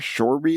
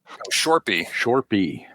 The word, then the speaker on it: Shorpy: Shorby or Shorzy or something? Shorpy. How do you spell that?